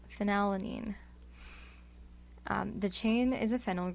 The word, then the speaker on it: phenylalanine: h e or f so i think of this as pronouncing it with an f sound so phenylene phenylalanine the chain is a